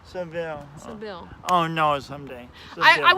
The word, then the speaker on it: Sibille: Sibille.